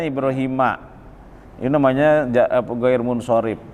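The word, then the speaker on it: إبراهيم: Paulus II Hai Hanifa Hai nilai premi ya dibacanya ibroohiima Ini namanya jadi pegawai munshorif akhir munshorif tapi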